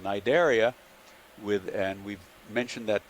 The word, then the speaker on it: Cnidaria: term before today that it begins with a c but the c is silent so cnid which is the uh derives from the greek word for a nettle as in the plant